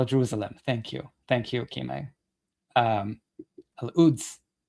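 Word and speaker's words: Al-Quds: Al-Uds. The coup, like Kshama's, like Kshama's name is silent. The Q is silent.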